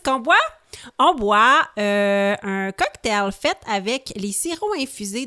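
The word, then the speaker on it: Coqtail: On boit un cocktail fait avec les sirops infusés de la marque Cocktail. Cocktail qui s'écrit C-O-Q-T-A-I-L.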